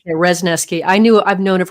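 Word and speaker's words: Wrzesniewski: I want to say her name is Rnooki. Is that the right word? Resneski. You're very close. Resneski.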